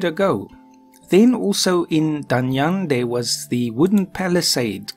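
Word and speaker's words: Danyang: ours he is in danyoung and I actually I was told I shouldn't pronounce the G is really so done young and then yes down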